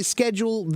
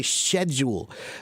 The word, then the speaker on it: schedule: the word schedule schedule in America we say schedule in Britain they often some of them not all of them but they say schedule because it's spelled right but if you look at the etymology of the word where does it come from it comes from Greek the word skettis which is SK SK it's